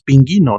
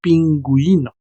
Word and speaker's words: pingüino: No decimos pinguino, decimos pingüino. Esa es la función de la diéresis.